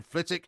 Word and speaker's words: Flitwick: A lot of people reminding you that Flitwick is indeed in Bedfordshire. Yes. Janet's reminding you of that. John says El Planco yet again. Phil says, tell Porky the W is silent in Flitwick, and it's in Bedfordshire, not Hertfordshire.